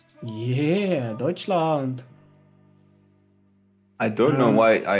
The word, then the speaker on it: Deutschland: i think he's german benjamin roller he's from dutchland yeah deutschland i don't know why i actually i i do know why i pronounced it like that slump because i was